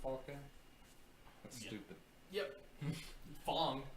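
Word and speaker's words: F.A.N.G: Fong, not Fang.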